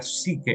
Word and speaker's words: psique: Y luego hay otra vida en griego que es la vida psuke, bueno, psique, se pronunciaría psique, ajá, la vida psicológica,